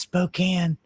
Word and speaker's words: Spokane: got all this going on when I come in the comments section and say it's pronounced Spokane.